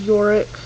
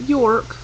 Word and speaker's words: Yorick: Number 23 is Yorick. Not York, Yorick.